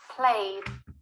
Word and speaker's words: played: the d played played the e doesn't sound third example stopped here